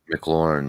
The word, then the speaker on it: McLaurin: McLaurin, yeah.